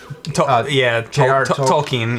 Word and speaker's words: Tolkien: Tolkien? Tolkien, yeah.